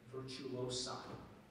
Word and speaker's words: virtuosa: And in a sentence, the virtuosa played the piano concerto with great agility. Virtuosa. Are there any alternate pronunciations?